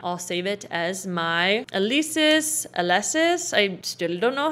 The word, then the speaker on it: Alesis: instruments instrument rack i'll save it as my alesis alesis i still don't know how to pronounce that alexis synth haha hit enter and you are good